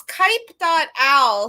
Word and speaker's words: kuip.al: It's Kipe.al. So it's the owl comes from and the Kipe comes from Kuipers.